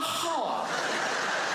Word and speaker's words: half: be back at a half half half a half half even half has has an L in it half half a how